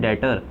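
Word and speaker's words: debtor: Mister Shyam, mister Ram के क्या है, डेप्टर, डेटर, ठीक है, डेप्टर नहीं वैसे डेटर पढ़ा जाता है, ई साइलेंट रहता है, डेटर।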